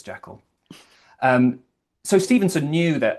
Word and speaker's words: Jekyll: So, like uh Jekyll, he uh Stevenson knew a Scott called Walter Jekyll. Although the the Scottish pronunciation is Gekel as um nerds like to point out and correct.